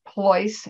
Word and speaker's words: Pleuss: e u s s poice as in choice voice or rolls royce so that's the easiest